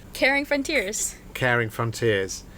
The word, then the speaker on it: Karing: set up the charity is called caring frontiers caring frontiers it's spelled with a k yeah yeah caring frontiers